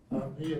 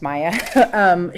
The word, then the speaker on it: Mia: I want to direct your attention to a case, Mia Chrisman. Are you familiar with that case? I am. You tell the panel how you became familiar with that case? Actually, it's pronounced Maya.